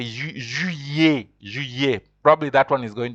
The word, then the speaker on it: juillet: I know July is a bit complicated, because when an I is before two L's in French, you pronounce them like you say, like as if it is a Y. So that's why you say juillet.